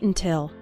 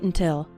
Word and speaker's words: until: When speaking fast, the first syllable of until is barely pronounced. Listen to it again. Don't wait until. Don't wait until.